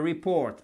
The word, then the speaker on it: report: The report, accent tonique sur la seconde syllabe.